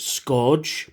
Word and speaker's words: Scourge: I prefer to pronounce it Scourge. People say Scourge, I say Scourge, because that's how Orson Welles pronounced it in the movie.